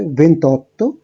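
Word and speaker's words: ventotto: 24 এর ক্ষেত্রে উচ্চারণটা হচ্ছে ভেন্টিকোয়াত্রো, 25 এর ক্ষেত্রে ভেন্টিচিনকুয়ে, 26 এর ক্ষেত্রে ভেন্টিসেই, 27 এর ক্ষেত্রে ভেন্টিসেত্তে, 28 এর ক্ষেত্রে ভেন্তত্তো, 29 এর ক্ষেত্রে ভেন্তিনোভে।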